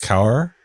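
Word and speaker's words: Kaur: nice it's men and for women it's k-a-u-r I think it's pronounced cower and sing means lion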